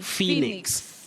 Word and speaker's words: phoenix: realize P and H in that word takes the sound f like an F. Yeah. Then we have O and E, also what we call now a vowel digraph, where two letters combine to represent one sound. So it represents the long sound E. E. Phoenix.